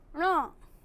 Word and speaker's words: ण: ये ध्वनि एकदम अंदर से निकलनी चाहिए, ण, अण नहीं, ण।